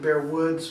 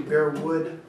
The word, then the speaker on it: Bearwood: that's with no s always pronounce it bear woods but it's actually bear would calm and Steven over